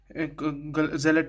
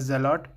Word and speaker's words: Zealot: Zealot is the correct pronunciation, but you can also say it as Zealot.